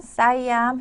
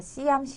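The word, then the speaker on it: สยาม: 그래서 버리삿 싸이암 하면 싸이암 회사에서 일하고 있습니다. 예, 시암사라고 그랬는데요. 시암은 영어로 SIAM이라고 그래서 시암 하는데요. 사실은 태국어로는 싸이암이라고 예, 발음을 하죠.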